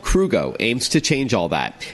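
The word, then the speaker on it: Krugo: CEO and co-founder of crew go which is spelled KR u geo welcome to the show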